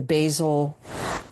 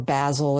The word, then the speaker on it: Basel: And she also took several of us to Red Dot Miami, which is Miami Art Week, part of the Basel, or Basel, if you pronounce it like that, Art Basel Miami.